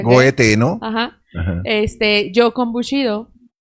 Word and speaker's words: Goethe: también a Goethe, creo que es Goethe, se pronuncia Goethe, ¿no?